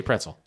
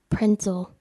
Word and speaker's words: pretzel: how do you say pretzel prince 'l what yep she did she said you said it with an N Prince 'l pretzel it's wrong that's wrong i was singing it now